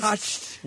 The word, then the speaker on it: costume: What makes the tume sound? The T-U-M-E, because it's a short U, right? No, it's a long U. I think it's from a long U with the C-H in there. Right, a long U with the T when it's pronounced together. Tume, tume, not costume. Costume. Costume. It's like T-H. You don't go t, you go th.